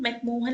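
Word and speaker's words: McMahon: अब देखिए ये जो मैकमोहन लाइन है ये कैसे डेवलप हुई। तो अरुणाचल प्रदेश की करंट बाउंड्री ही मैकमोहन लाइन है, मैकमेहॉन line actually, I am sorry for my pronunciation.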